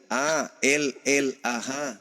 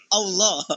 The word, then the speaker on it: Allah: baik-baik itu ada itu a l l a ha itu ada ah I itu bacanya apa Allah karena karena ini berasal dari Quran maka kami membacanya Allah lah berasal dari Quran